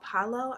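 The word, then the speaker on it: Palo: practicing a religion called paulo i believe that's how you pronounce it p-a-l-o now all i know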